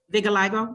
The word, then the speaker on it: vitiligo: Vitiligo.